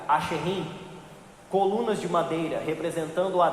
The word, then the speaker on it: Asherim: Do hebraico se pronuncia Asherim, colunas de madeira representando a deusa Aserá, tá?